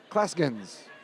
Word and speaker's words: Clasgens: That's Clasgens. Did I say it right? You got it. I did, with a hard G.